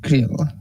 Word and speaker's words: Creel: Though I'd have to learn how to pronounce their name. I believe it's just Creel.